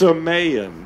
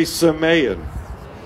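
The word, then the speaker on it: semeion: signs everybody say signs the greek word is s-e-m-e-i-o-n and it's pronounced samayan say samayan samayan means something distinguished a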